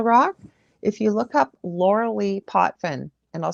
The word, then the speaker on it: Lorilei: the bottom i'm pointing to it it'll say host of the angel rock if you look up laura lee potfin and i'll spell it for you again